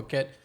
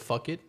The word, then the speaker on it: Phuket: Phuket, Actually, I didn't know it was called Phuket. I used to call it Fuck It.